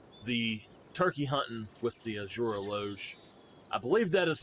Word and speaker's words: Azure Eloge: bow and now the turkey hunting with the azura loge i believe that is how it said let me make sure that is how it's said before we do anything else yes the azure aleuge okay so i've had a great deal of